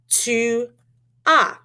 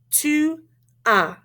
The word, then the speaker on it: tu as: Tu as. Répétez. Tu as. And why don't we pronounce that S? Because we don't usually pronounce S at the end of a word in French.